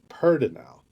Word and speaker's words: Pedernal: I mean, I think people reading it for the first time are going to pronounce it Pedernal because that's how it's spelled. But here it's pronounced universally Pedernal, which I think is really funny.